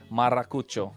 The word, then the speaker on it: Maracucho: It took some time, but hey, you're forgetting to roll the R, man. Hey, man, we warmed up to his... Maracucho.